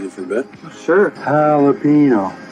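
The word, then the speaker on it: jalapeño: Jalapino, not galapo. What in the are you guys talking about? Jalapino. That's how you pronounce it.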